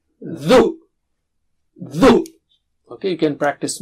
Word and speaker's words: ذُ: And let's take dhu. It's not zu. Dhu. Touch the tip of the tongue. Touch it with the top teeth, edge of the top teeth. Dhu. 3 times. Dhu. Dhu.